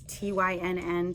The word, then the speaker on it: Tynn: It's Tynn, so I'm not mispronouncing thin.